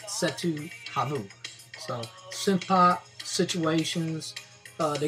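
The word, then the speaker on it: Cetu Javu: Setu Havu, I was told I was saying the name wrong. I used to call it Setu Javu. God told me it was Setu Havu.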